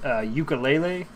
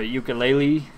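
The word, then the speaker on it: Yooka-Laylee: This is, as far as I can tell, this is pronounced ukulele, or ukulele. It's a pun.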